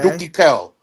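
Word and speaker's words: Doukki Gel: Dookie is D O U K K I. All right. K. Space. Then it's uh G E L. But the jail is pronounced like kale. Like a kale.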